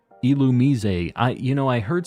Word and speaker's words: Illumise: why a lure ball you talk about it's pronounced illumise I you know I heard somebody saying that